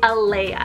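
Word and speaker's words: Alaia: the next name on the list is leah eleah elea i forgot that so that's spelled elea a l a i a this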